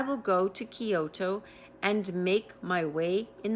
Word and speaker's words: Kyoto: Coyoto. Kyoto. There we go.